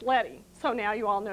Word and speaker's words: leading: it looks like leaving but it isn't it's pronounced letty so now you all know you can be very sophisticated and you see that in your desktop publishing book and someone calls it lady and you can say no no no it's